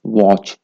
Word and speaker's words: watch: چونکو بریکو CH آتی watch same thing T is silent crouch Dutch kitchen okay